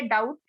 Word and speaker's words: doubt: Next है डाउट, DOUBT, बी इसमें क्या है, बी जो लेटर है इसमें वो साइलेंट है।